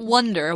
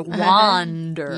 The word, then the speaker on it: wander: wonder why water yeah not wonder wander yeah so we have to make sure we're pronouncing it right with a ah not at all with a not a wander means to